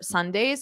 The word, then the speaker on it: sundae: merang merang mering mering there's no difference no difference they're the same Sunday Sunday no difference exactly the same different spelling same pronunciation this happens quite a